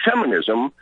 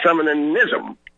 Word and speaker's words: femininism: I'm not into feminism. I'm into femininism. There's an extra syllable in there.